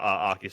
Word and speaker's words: Arceus: Arceus tier. Yeah, well, that's good. That's good. No, I agree. But Arceus tier 100%.